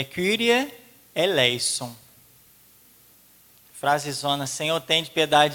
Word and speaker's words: Kyrie: Agora no Kyrie, que a gente fala Ki, mas não é Ki, a gente deveria falar Kyrie.